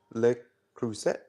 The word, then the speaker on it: Le Creuset: I want to introduce you to, and I'm still working on that name, Le Creuset. Is a French pronunciation.